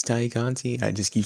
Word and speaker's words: Tay Conti: Is it Thai Conti or Tay Conti? That's the Yeah, debate. it's Tay Conti.